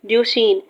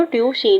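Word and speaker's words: Duchenne: बट जो muscular dystrophy है ड्यूशीन, ड्यूशीन कहते हैं इसको, ड्यूशीन। वैसे तो बायोलॉजी में हमेशा हम लोग प्रोनाउंसिएशन अलग अलग होती है, बट फिर भी इसको कहते हैं ड्यूशीन।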